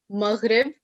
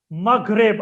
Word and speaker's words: Maghreb: So the term used is Maghreb. Maghreb. I like the way you pronounce it also. Maghreb is how it should be pronounced.